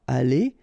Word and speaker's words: allée: You don't pronounce it, but still you need to write it.